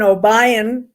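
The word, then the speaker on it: Obion: in obian county tennessee did i say that wrong albeit obian obayan no one ever pronounces it right so don't worry about that okay so linda lives in obayan county tennessee with her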